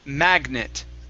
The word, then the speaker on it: magnet: to this word here the word is magnet magnet try that stress at the very beginning instead of magnet it's magnet very good this word here